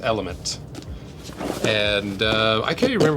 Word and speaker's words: LMNT: And we got a nice package from LMNT, which I think is pronounced element.